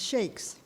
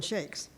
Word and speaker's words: Chaix: disclaimer but a claimer my family is always pronounced c-h-a-i-x as shakes however the family of